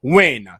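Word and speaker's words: Wynn: It's like somebody whose last name is Win and they spell it with an N. Why? W-Y-N-N. Win.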